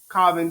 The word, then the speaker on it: Chauvin: So Bootsy, like we're on the heels of the Derek Chauvin trial.